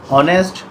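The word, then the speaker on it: honest: इसे हम ए लिखेंगे जबकि ऑनेस्ट ऑनेस्ट में एड जो है साइलेंट होता है तो हम एन लिखेंगे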